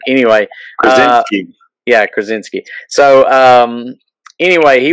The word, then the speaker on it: Krasinski: I don't remember how to pronounce his last name. Anyway. Krasinski.